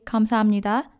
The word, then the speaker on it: 감사합니다: That's why we say 감사합니다 instead of 감사합니다.